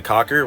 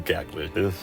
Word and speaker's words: Cackler: Enemy 4, we have the Cackler, which my friend actually pronounced the Cocker, which I was so close to naming it that, but she was wrong. It's called the Cackler.